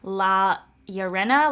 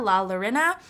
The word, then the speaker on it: La Llorona: I'm mispronouncing this but I think it's pronounced la yo Rena la Llorona I'm sorry again if